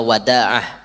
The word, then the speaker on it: Wada'ah: Wa an Asad bin Wada'ah, itu bacaannya Wada'ah, itu alifnya tanpa huruf, jadi alif tuh dialih ke mukaddal, Wada'ah kayak itu.